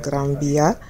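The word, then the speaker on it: Gran Vía: also wrote across the granbya well you spell it as graphia but you um pronounce it like a b and it's one of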